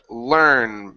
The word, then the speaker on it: learn: Okay, and your last one here is the word learn. Make sure to pronounce that R vowel.